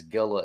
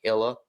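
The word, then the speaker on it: Gila: but more than likely what you pronounced as Gilla is probably Hila or something along those lines.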